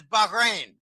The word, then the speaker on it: Bahrain: For instance, in Bahrain, and the correct pronunciation is Bahrain.